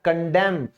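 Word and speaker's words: condemn: अगला आपका अक्षर है एन, और एन क्या कहता है, यदि किसी वर्ड के एंड में एम एन साथ आ जाए तो एन को साइलेंट कर दो, ठीक है ना।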